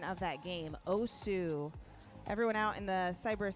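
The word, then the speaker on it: osu!: OSU, and I appreciate they gave me the pronunciation of that game, OSU.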